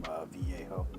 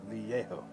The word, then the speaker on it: Vallejo: I do like the glazing medium from Vallejo.